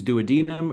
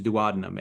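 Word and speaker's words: duodenum: It's you either choose douadinum or you choose douadinum and you cannot do both and and life the entire medical community is split.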